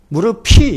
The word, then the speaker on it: 무릎이: 무릎이, 이거는 이거는 피업하고 이가 연음이 돼가지고 무릎이라는 것이 표준 발음입니다.